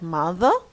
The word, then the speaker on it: mother: From their mother, look at mother, ma. Okay, the R in British English is not pronounced.